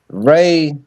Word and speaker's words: Ra: It's not When you even look, Ra. It's pronounced Ray.